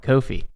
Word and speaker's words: Ko-fi: their actual YouTube channel they all call it Kofi really yes all right now I'm thoroughly confused okay yeah me too because I clearly want to say coffee bro yeah you called it Kofi at first I was like dude their whole YouTube all their employees their websites that if you get it read out loud it literally says Kofi like even the I